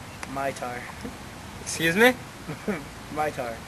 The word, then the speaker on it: Mitar: Mytar. Excuse me? Mytar. Pronounce it again, please. It's spelled M-I-T-A-R. No, please say it with the accent. And everything. Mitar. Yeah, Mitar. Thank you very much.